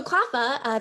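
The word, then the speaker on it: CLPHA: authorities next slide please so klafa that's how we pronounce that acronym is a national nonprofit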